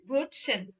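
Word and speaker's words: Brötchen: আমি খালি রাখছি ব্রুসেন ব্রুটসেন ব্রুটসেন এই যে টে আছে এস আছে একসাথে উচ্চারণ হবে ব্রুটসেন ব্রুটসেন আর এটা অনেক সহজ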